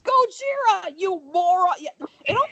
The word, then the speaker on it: Gojira: My favorite part of that entire thing is her reaction to him mispronouncing Godzilla. That It's Gojira! funny. It's Gojira, you moron!